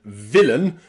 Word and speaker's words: villain: Number three, we can pronounce A and I in words like certainly and villain with that schwa sound. Certain, or certainly. And also villain and villainy. Okay, villain and villainy both have that schwa sound for the A and the I.